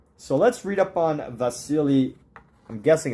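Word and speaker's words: Wassily: let's read up on vasili I'm guessing it's called You're pronouncing a w like a V but was Sil Kandinsky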